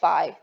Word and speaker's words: phi: theta minus phi so this letter right here is another greek letter called fee some of you might call it phi that's another way to say it like the sorority okay so we're going